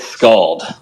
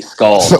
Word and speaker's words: Skald: how you pronounce it it's scald a a l d scald like scalded yourself on a pot right like it's hot this is what we're